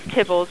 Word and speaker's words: Tibbles: Actually, it is Tibbles, but that's okay.